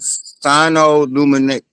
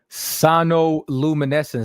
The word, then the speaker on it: sonoluminescence: I want to make sure I'm pronouncing it right. It's called sinoluminescence. Hold on. Sinoluminescence. Have you ever heard of that word? Sonoluminescence.